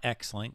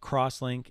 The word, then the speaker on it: CrossLink: are in your design they are called or pronounced icoia crosslink not x-link but crosslink and servlink that's how